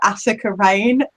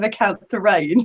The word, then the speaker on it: Acantha Rain: And I called her Attica Rain instead of Acantha Rain. So I always make a point now to say it right.